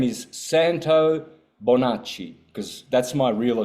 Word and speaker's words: Santo: Therefore, if you're going to say my name in Italian, say it Santo, not Santo, like Dave-O and John-O and Bono and this O thing. It's only English has got this O.